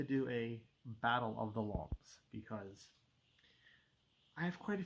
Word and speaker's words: L'Homme: with the name L'Homme, which is capital L apostrophe capital H-O-M-M-E, like homme but with an L, L'Homme.